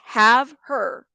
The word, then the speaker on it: Havre: She says she was in Havre, pronounced have her.